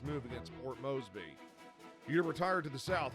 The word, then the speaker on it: Moresby: Shouldn't it be pronounced Moresby with an R in there?